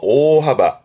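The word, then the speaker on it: 大幅: 이것 또한 뜻으로 읽어서 오하바 오하바. 대폭 큰 폭의 오바 대수 큰 손이네요. 그래서 발음이 오대 오대 큰 손이라는 건 어떠한 큰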